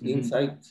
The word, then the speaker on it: Insite: En nuestro caso, la palabra realmente no es como adentro, se escribe con T, es Insight.